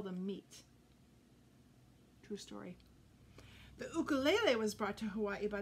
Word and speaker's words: ukulele: meat true story the ukulele was brought to hawaii by the portuguese before nineteen hundred when hawaiians saw it they called it an ukulele pronouncing the you like the oo in mongoose in the hawaiian language